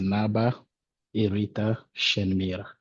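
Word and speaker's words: Naba Shenmira: So, would you mind pronouncing your name for me? Yes. Uh, thank you. Uh, my name is Naba Shenmir.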